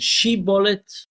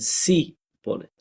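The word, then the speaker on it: Shibboleth: And the two tribes pronounced the name Shiblet slightly differently. One of them said she bullet, one of them said C bullet.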